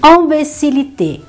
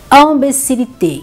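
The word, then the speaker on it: imbécillité: Y, você pronuncia L, mas nesse caso dessas três palavrinhas, também será pronunciado com L só.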